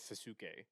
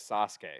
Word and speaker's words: Sasuke: people say like or Sasuke it's like suzuk it's like are you literally just need to play one episode and hear how they say his name and then you have his name down like how are you getting Sasuke from literally the first episode where he says Sasuke or a sh Shin